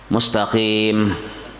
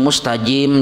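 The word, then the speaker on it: مستقيم: Nah, contoh pulang yang membatalkan Fatihah misalnya mustaqim, dia misalnya bujur gitu, dibacanya mustajim jadinya. Berubah juga arti mustajim.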